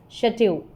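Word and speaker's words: château: What is this pronounced as? Chateau. It's chateau, which is a large French country home or castle.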